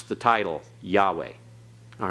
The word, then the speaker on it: Yahweh: like it's Saturday okay both Hayes are silent Yahweh okay alright so it pronounced that Yahweh don't pronounce the vowels through there this is